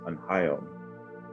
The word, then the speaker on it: Unhayom: My Kiowa name is pronounced Unhayom, which translates to English as he knows.